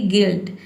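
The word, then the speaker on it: guilt: जैसे कि गिल्ट, गिल्ट में देखिए यहाँ पे ई पढ़ते हैं, जी का गौ हो जाएगा, यू आई का हो जाएगा ई और एल टी का हो जाएगा आधार लॉ और ट।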